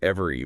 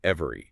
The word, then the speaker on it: every: We completely drop that middle e. We don't say every. We compress it to every, right?